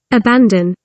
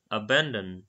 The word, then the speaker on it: abandon: কিন্তু এখানটাতে আবার যদি আমরা আমেরিকানটা শুনি একটু ডিফারেন্স আসছে, abandon, ব্যান, ব্যান, এখানটাতে ইউ এইচ আ তারপর বি এন ব্যান বলছে, যেখানে ব্রিটিশ প্রোনাউন্সিয়েশনে এটাকে abandon, বান, বান বলছে, বান মানে পাউরুটিকে অনেক সময় বান বলা হয়।